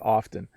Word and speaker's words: often: i speak slowly and when i speak clearly i often say the t so you heard me say it just there when i am in a meeting with my boss and other people and it's very formal i often pronounce the t when i say the word often when i'm talking to my students or friends i often don't say the t okay very often i